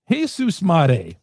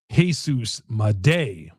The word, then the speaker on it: Jesus Made: Jesus Mday. Jesus Mday it is. We learned the correct pronunciation. It's Jesus Mday.